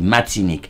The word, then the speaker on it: Martinique: Martinique, bien sûr, on prononce pas le R dans le créole réel en Haïti, on dit Martinique.